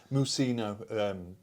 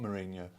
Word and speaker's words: Mousinho: Mousinho, not Mourinho.